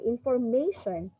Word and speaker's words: information: hear that stress okay so information information so you can hear that it's on the third syllable okay so the word